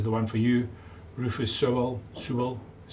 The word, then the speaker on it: Sewell: Rufus Sewell.